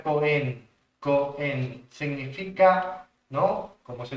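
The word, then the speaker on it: כהן: ser un sacerdote esta palabra en hebreo se pronuncia coen coen significa no como se traduce sacerdote viene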